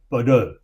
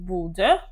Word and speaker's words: Bodø: That's there's a town up north, Bodø. Bodø? Yes, it's in the name of Bodø. Bodø. Yes, and we pronounce it as Ø.